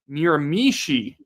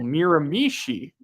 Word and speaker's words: Miramichi: Miramichi, emphasize the last syllable. Say it with me, Daniel. Miramichi. Miramichi.